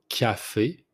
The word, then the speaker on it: café: First one, the coffee, it's café, café. You pronounce the C like it's a K, so café.